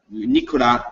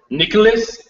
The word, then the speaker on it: Nicolas: We don't pronounce the S when Nicolas Noble. Nicolas Noble.